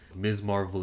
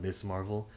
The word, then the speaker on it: Ms. Marvel: Ms. Marvel is 6 episodes, and her name is pronounced Ms. Marvel, not Miss Marvel, because MS period makes that noise.